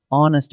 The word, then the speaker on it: honest: Honest mistake. A or an? Listen to honest. The H is silent, so the word actually begins with the vowel sound on.